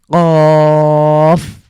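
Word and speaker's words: قاف: তাহলে এটার স্বাভাবিকভাবে আরেকটা কাফ রয়েছে সেরকম হয়ে গেলে আমাদের অর্থ এটা পরিবর্তন হতে পারে তো এটা একটু ধাক্কা দিয়ে আমাদেরকে উচ্চারণ করতে হবে জিভের গোড়া উপরের তালুর সাথে লাগিয়ে ধাক্কা দিয়ে আমরা আমরা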